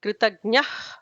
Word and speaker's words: कृतज्ञः: Duradarsha is ignore the visarga. Kritagnyah will be an H kind of sound.